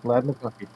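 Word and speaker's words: Ladd McConkey: Lad McConkey.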